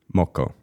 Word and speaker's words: moko: Moko. Yeah, perfect. Nailed it.